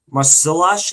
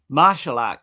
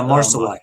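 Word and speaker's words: Marsillach: Stars Christina uh Marcelash. Is that how you say it? Darren Marelac is Yeah, Marcelac. Thank you.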